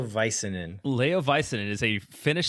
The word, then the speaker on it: Väisänen: I believe it's pronounced Leo Väisänen.